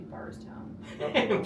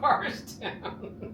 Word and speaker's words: Bardstown: They just mispronounced it. It's actually Bardstown. Bardstown.